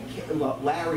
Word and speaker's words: Larry: And the desktop would pronounce it like Californians do, like it's L-A-I-R-Y. And I wanted it to be Larry like a cat.